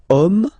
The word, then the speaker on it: homme: And then here we've got the word homme, man, okay, but then it starts with H, as in French, H is not pronounced, so the first sound that we hear is O, okay, and then it will follow the same rule.